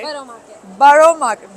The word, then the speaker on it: Borough: Borough Market. Borough or Borough? Borough. I've been saying it wrong in the whole Borough Market.